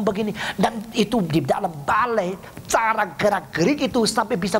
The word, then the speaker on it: balet: Coba lihat orang balai. Bukan balet, bacanya balai.